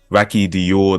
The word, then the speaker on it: Racki Diorr: I also want to make sure that I'm pronouncing the name right Rocky Dior that is how it's pronounced right yeah Rocky